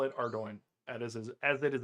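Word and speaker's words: Ardougne: or Ardo and not Ardun because it is spelled Ardun and it makes no sense that it would ever be pronounced Ardo unless you know that it's like a suburb of Belfast and Irish people pronounce their words very weirdly.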